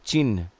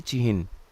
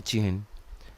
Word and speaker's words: चिह्न: देखिए हम लोग बोलते हैं चिन्ह। लेकिन यह गलत है। इसका सही प्रोनाउंसिएशन जो सही तरीका है उच्चारण का वो होना चाहिए चिहन। यह होता है चिहन। ह पे हलंत होता है। ह यहां पर अपने साथ स्वर नहीं लिया होता है।